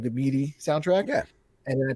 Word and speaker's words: MIDI: mead or meat like midi like the yeah yeah yeah no you just pronounced it differently than me oh how do you say it i said i say midi like like in the middle yeah have you ever